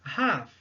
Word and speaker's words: half: La demi-heure, troisième cas, on utilise half. Half. Ce qui veut dire la moitié d'une heure. On fait bien attention à prononcer le H, half, et à par contre oublier la lettre L.